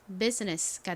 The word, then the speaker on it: business: I는 묵음으로 소리가 나지 않아요. 그리고 끝에 NESS는 덩어리로 ness 소리가 나죠. 연결하면 business가 됩니다.